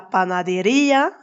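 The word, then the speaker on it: panadería: On dira la panaderia pour la boulangerie avec un accent sur le i, mais on parlera de la démocratia sans accent sur le i pour dire la démocratie.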